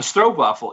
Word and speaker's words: stroopwafel: but it's a stroke waffle is basically you pronounce it oh a double o iso a strobe waffle is yeah you can get them anywhere in